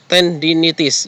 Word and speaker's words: tendinitis: Rotator cuff tendinitis atau tendinitis, ya ini bukan 10 ya. Ini pengucapannya adalah ten ya.